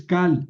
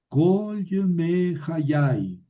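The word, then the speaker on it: כָּל: Oye, Javier, es Kal. No. Esta sílaba es cerrada, termina en consonante y no lleva acento. Pues aquí está el Makef que le quita el acento. Entonces, una sílaba cerrada no acentuada, la Kamet se convierte en Kamet Hatuf y suena O. Kol Yemei Hayai.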